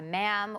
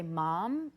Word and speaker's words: ma'am: sir and her by ma'am, which rhymes with spam.